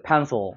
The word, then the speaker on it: pencil: 그러니까 펜실이 아니죠. pencil이라는 거죠. pencil. 약간 으 사운드가 나는 것이고 pencil. 여기 왜 강세가 여기 있으니까.